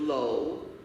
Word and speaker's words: Law: And they said, "Every law," and they pronounce it Lowe, "every Lowe in Jamaica comes from one of two villages in China.